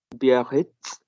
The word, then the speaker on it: Biarritz: Here, the Z and T both are pronounced.